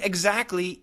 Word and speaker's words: exactly: Now, the word exactly, E-X-A-C-T-L-Y, exactly. But listen carefully. Exactly. Eggs. It sounds like eggs.